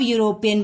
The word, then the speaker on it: European: जब आप यूरोपियन बोल रहे हैं तो यहाँ वॉवेल साउंड नहीं है। कैसे नहीं है? आप इसको ध्यान से देखिए, EUROPEAN, यही ना स्पेलिंग? हाँ, EUROPEAN, यूरोपियन। जब आप इसको ध्यान से पढ़िए तो यह आ रहा है यूरोपियन। ठीक है, यूरोपियन यानी वाई से शुरू हो रहा है, यूरोपियन।